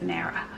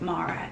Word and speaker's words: Mara: She might even pronounce it Mara, but I've always pronounced it Mara, M-A-R-A.